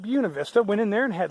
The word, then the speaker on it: Buena Vista: I was mispronouncing it. It's not Buena. The locals call it Buena Vista.